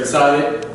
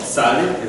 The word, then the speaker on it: Tzaddik: Last week we introduced the new letter Tzaddik, and so its number is 90. It's called Tzaddik, and its pronunciation was with a TZ sound or a TS, but usually with the TZ.